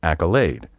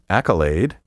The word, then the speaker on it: accolade: My preferred pronunciation for this word is accolade, but there are no fewer than three other acceptable pronunciations. Accolade, with the stress on the first syllable, accolade, and accolade.